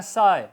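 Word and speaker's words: sigh: इस तरह साय, नज़ारा, मंजर, SI बोला जाएगा, GH साइलेंट रहेगा।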